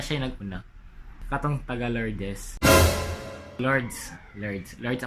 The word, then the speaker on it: Lourdes: Lords ang pag-pronounce na guys, kaya na daw letter E.